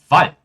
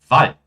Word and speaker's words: Wald: Palavras que terminam com um D, elas são pronunciadas como um T. Como, por exemplo, Grad, Bad, Kind, Wald, Land, Grund. Falem comigo mais uma vez. Grad, Bad, Kind, Wald, Land, Grund. Ou seja, não é grad, né? Nem Bad, nem Kind, nem Wald, mas sim Grad, Bad, Kind, Wald, Land e Grund.